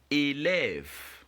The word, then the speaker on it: élève: Alright, so the word of course is élève.